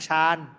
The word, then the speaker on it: ฌาน: อ่าน ว่า ฌาน (Jhana) ถ้า อย่าง นั้น สมาธิ และ ปัญญา เปรียบ เสมือน ความ สามารถ ทาง จิตวิญญาณ ล่ะ ก็ ...